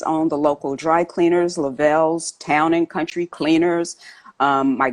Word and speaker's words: Lovell: Yes, it is Lovell. But you know what? Most people think about the astronaut Jim Lovell, spelled the same way, so they usually say Lovell, yeah.